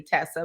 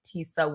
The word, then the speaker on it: Tesa: if you like because some people don't know the pronunciation they'll say Tessa but it's Tisa yeah I like I